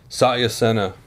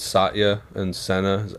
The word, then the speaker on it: Satya Sena: you have a name for it yet or Satya Sena is the name of the bed okay what how do you spell that SAT why a let Satya Sena se na okay Sachi Sena gotcha gotcha okay very cool well I look